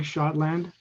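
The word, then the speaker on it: Schotland: see it okay um i'm shotland and my last name is spelled s c h o t l a n d like scotland but s c h thank you mr scotland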